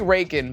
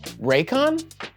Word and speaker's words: Raycon: okay so the country Reagan banned The Exorcist in 1990 oh sorry I don't I don't think I pronounced that right I think it's pronounced raycon I'm sorry sponsored by